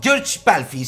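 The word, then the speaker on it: György Pálfi: George Pálfy se dice así en húngaro, sí, que lo he buscado.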